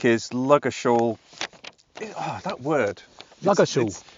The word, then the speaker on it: Ludgershall: It's really a silent D. It's a silent D. That's the best way to remember it. But for years I was going, how do you say that? Yeah. It's like Ludger. It's like my false teeth are falling out.